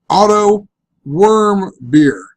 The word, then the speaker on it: Otto Warmbier: article that I read look how they show you to pronounce his name if it'll load up here click OK that I can zoom in what's wrong with it auto worm beer great worm and think